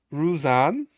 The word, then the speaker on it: Ruzan: Ruzan. I think that's how you say it.